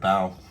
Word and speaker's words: Bale: And then Pale does rhyme with Bale.